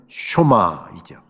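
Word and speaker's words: שמע: 우리는 흔히 쉐마라고 이야기합니다만은 정확한 히브리어 발음은 쇼마이죠.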